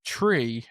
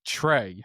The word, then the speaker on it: Tre: And the other guy's name is Tree. Now, he's not a Force user. He's a a Twilight. the Twilight like gangbanger, but his name is spelled like Trey, like T R E.